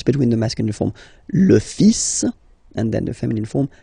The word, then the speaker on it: fils: okay, so it's le, and then even if it, you've got this L, well, basically you don't pronounce it, and then strangely you pronounce the final S, le fils, le fils, le fils,